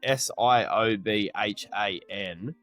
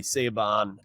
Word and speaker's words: Siobhan: has a lady in it and her name is spelled S I O B H A N. And so I was pronouncing it phonetically, Saban.